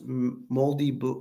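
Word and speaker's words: Māori: Native people in New Zealand are called Maori, pronounced moldy, like black wood, or the bread was moldy.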